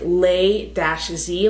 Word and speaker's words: Lay-Z: And the way it's spelled, it's like Lay-Z, like Jay-Z, you know?